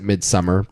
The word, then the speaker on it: Midsommar: You could pronounce it Midsummer, but if you that would be if you're a normal person. That's true. Yeah. What's your word? A plebeian? If you're a plebeian, you say Midsummer. Yeah, and if you're a sick sociopath, you would pronounce it Midsommer.